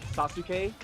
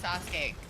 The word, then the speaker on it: Sasuke: Uh, anytime someone's name Sasuk. Oh my god, I hate when people mispronounce Sasuke.